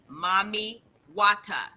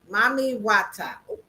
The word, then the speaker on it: Mami Wata: Everybody in the chat, look up Mami Wata. MAMI space Hold on. Wait a minute. Wait a WATA. minute. Spell it again.